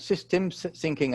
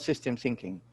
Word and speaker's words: systems thinking: to emphasize is that it is called systems thinking and not system thinking, right? Most people actually, you know, don't mention the S or pronounce the S, but it is actually about systems thinking, not just system thinking.